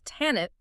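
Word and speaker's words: Tanit: The actual historical footprint of tinit, which is much more accurately pronounced and historically recorded as Tannet belongs to Carthage.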